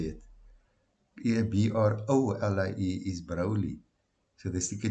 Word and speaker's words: Broglie: It's spelled de Broglie with a Broglie, but the guy on YouTube pronounces it de Broglie, like a silent G.